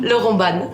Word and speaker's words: Laurent Ban: Laurent Ban. Oui, absolument. Bien prononcé? Parfait, Ok.